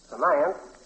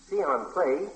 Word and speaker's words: fiancé: How do you pronounce these two words? F-I-A-N-C-E and F-I-A-N-C-E-E. First one is finance. The second one... You didn't hear me spell them. Let me spell them again. F-I-A-N-C-E and F-I-A-N-C-E-E. Fiancé. That's right.